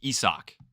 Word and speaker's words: Isaac: Forgot because it's spelled Isaac, but it's Esoch.